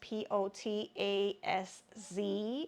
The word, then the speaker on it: Potaz: So this one is the Summer Vacation Crochet Top by Jessica Reeves Potaz. I don't know how to pronounce her last name. It's Potazz, as in zebra.